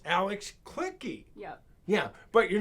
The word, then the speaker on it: Alex Kliche: you know you're gonna read the name it's pronounced alex clicky yep yeah but you're not clicky no you're